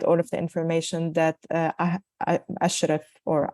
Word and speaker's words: Ahrefs: I'm a big fan of Uber Suggest, but they do not provide all of the information that Ashraf or Ahrif, the way they pronounce it, works.